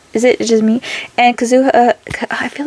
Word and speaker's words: Kazuha: Kazuha. I'm upset. I was told I'm saying it wrong, so what? Kazuha. What's okay, so I am saying it right.